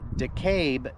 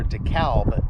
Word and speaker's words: DeKalb: Today we are in DeKalb, Texas, or DeKalb, Texas, whichever way you want to pronounce it.